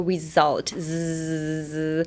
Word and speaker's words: result: Next result. Result. So, the S in result is actually a Z sound. So result zzz.